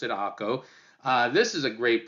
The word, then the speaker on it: Acre: one of my personal favorites a place called akko I know it's spelled h-c-r-e but we oftentimes pronounce it AKO uh this is a great place you know